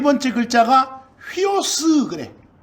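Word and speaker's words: υἱός: 그 다음에 이제 네 번째 물고기 하는 네 번째 글자가 휘오스 그래.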